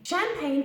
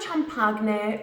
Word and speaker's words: champagne: from champagne in France it's pronounced from two syllables champagne champagne for example would you like some champagne I love drinking champagne let's have a glass of champagne together champagne it's not Chum Park net or chub Parkman and